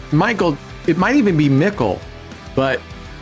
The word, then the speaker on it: Michel: It's Michelle, as like I said. It's Michelle. Okay, Michelle. Yeah. All right. Must be French. There you go. French pronunciation.